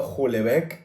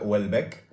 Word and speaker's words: Houellebecq: Yo llevo pronunciando Julebec un montón de tiempo. Michel Julebec. Michel Julebec. He buscado a propósito cómo se pronuncia y resulta que se pronuncia Wellbeck.